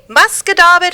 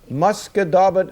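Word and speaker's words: Musquodoboit: Muskadobit Harbor. Muscadabit Harbor. How would you spell that?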